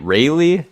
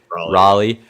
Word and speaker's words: Raleigh: not good with um is it Ry is that how you pronounce it or Raleigh Raleigh okay there you go um but there